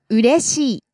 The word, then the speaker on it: うれしい: Then we have うれしい。 happy. うれしい。うれしい。 Again, low, high, low. Ureishi.